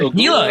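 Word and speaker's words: Águila: No, You should know how to stolen from pronounce the that. manufacturer. Yeah. It's Aguila or Aguila. How do you say that? Aguila.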